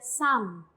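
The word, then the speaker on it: 삶: La riol con midan, la M es dominante, entonces se pronuncia sam.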